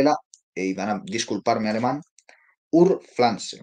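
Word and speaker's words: Urpflanze: van a disculparme alemán Ur Flans se escribe u r p f l a n ze que es la forma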